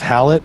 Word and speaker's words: Hallett: the last name but i'm just going to go with hallett instead of holly a spell h-a-l-l-e-t-t let's